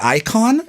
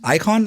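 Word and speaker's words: Icahn: yet so is it icon is is that what it's called icon like like uh icon but spelled with a CA hn filed for chapter 11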